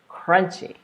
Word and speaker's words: crunchy: so I'm gonna say it wrong just so you can hear the difference crunchy crunchy that would be hard to understand here's a here's how it sounds correctly crunchy alrighty so that's rule